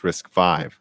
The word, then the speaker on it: RISC-V: So, it's pronounced RISC-V.